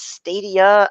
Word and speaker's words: Stadia: I'm saying it right it's kind of like Stadium but it's stadia yes I did watch